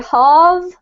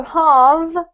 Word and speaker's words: halve: One is that we have a V, and here we have a F. This vowel sound has to be a little bit longer than this one. So we basically say halve. So halve is the verb, right?